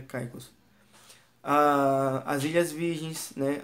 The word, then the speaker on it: Caicos: britânicas de truques e caicos né ou caicó consigo chamar mas é o nome certo seria pronuncia caicos a as ilhas virgens